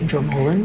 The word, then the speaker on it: Dromoland: So she's coming to rock with us tomorrow at the Dromoland Castle.